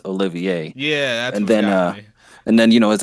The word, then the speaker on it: Olivier: then, well, I mean, if without hearing the pronunciation, you would just assume it's Oliver, but then it's actually pronounced Olivier.